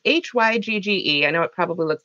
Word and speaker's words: Hygge: It's Hygge. I know it probably looks backwards for you guys, unfortunately, but it's pronounced Hygge.